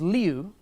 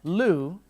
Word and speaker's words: Liu: a shock for them people could not pronounce my last name which is Leo they pronounce it as Lu which is the same as toilet if you're from any